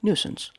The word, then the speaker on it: nuisance: 48 today's word is nuisance nuisance nuisance two syllables nuisance is a noun